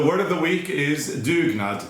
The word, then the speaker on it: dugnad: subscribe so the word of the week is dugnad d sorry d-u-g-n-a-d duke not and if you're wondering how it's spelled and if you didn't catch it you